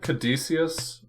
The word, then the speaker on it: Caduceus: Yeah, I'm not worried about the Greek pronunciation with the hard with the hard C sound. Caduceus is probably most correct, though, for English.